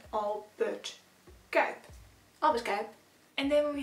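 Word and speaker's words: Albert Cuyp: That's also how you pronounce his name. It's named after the painter Albert Kuip.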